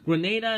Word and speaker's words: Grenada: probably is but however Grenada is actually pronounced as I said Grenada because of military forces